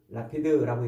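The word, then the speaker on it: לפיד: 라피드라고 이렇게 발음하는데, 횃불은 재미있게도 이 횃불은 성경에서 많이 등장하지 않아요.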